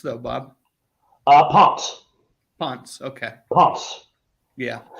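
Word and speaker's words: Pontz: Ponce. Ponce, okay. Ponce. Yeah. They pronounce the Z part of an S, you know.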